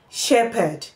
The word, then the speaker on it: shepherd: And then we find it in letters PH. Now, PH can as well be pronounced in some other phonemes, in some other ways, but we are pronouncing this as P, shepherd, shepherd, shepherd.